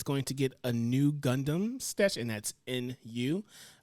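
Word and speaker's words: ν: going to get a new gundam sketch and that's nu uh and uh let's see that is the rx 93 ffv gundam but the v is the greek symbol pronounced new um which is a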